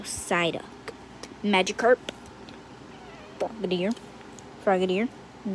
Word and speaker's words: Psyduck: energy um darkamala yeah the p is a silent letter so psyduck magikarp video froggit ear